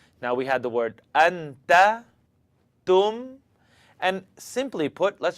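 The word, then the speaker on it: أنت: Anta, anta, anta. Now, if you were saying it wrong, you'd hear something like anta, t, t.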